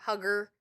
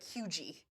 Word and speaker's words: Huger: So it looks like huger, hugger. It's like hugie.